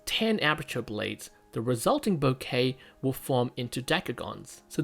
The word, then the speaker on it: bokeh: also a full-time educator bouquet or some people may pronounce it boki or bokar it's a japanese word and actually it's a